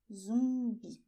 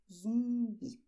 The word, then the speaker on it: zumbi: And people also want to know how to say "zombie" in Portuguese: "ZUMBI", "ZUMBI". You see, the UM sound? "ZUMBI".